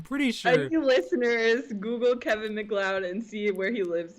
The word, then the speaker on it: MacLeod: exploring the music of Kevin McLoud not load as I originally thought yeah I gotta pronounce his name right McLoud Kevin McLoud an American